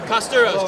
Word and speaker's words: Kosturos: how do you say your last name curos curos California boy playing in how do you